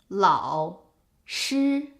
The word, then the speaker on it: 老师: 老师 is its actual pronunciation, but because 老 is followed by a first tone, it becomes a half third tone. 老师, not 老师.